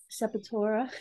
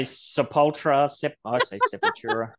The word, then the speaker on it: Sepultura: probably since the 90s sapatora how do you say it Sepultura but from the frogs you can't some people say sepultra I say seventura too yeah raging debate back